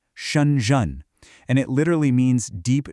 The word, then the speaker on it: Shenzhen: So, the name itself, it's pronounced "Shun-zhen". You hear that? A falling tone, then a rising one. "Shun-zhen".